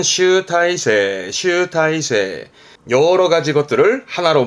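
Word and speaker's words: 集大成: 행슈 행슈 새 글자도 많이 쓰는데요 그렇죠 집대성이라 발음은 슈타이 슈타이 여러 가지 것들을 하나로 모아서 정리하게 되는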